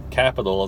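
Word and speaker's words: Qapital: The way we do it is we have an app called Capital. It's spelled with a QAP. Spell capital with a Q, and that's what it is.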